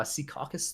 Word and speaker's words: Secaucus: I don't you know it's it's fine uh Secaucus there um oh yeah that's how you pronounce it um yeah yeah it's a fun